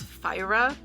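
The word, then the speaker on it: Feyre: in this book fa I'm pretty sure it's fyra but I say fa in my head so we'll just say fyra because that's the technically correct pronunciation so fyra has undergone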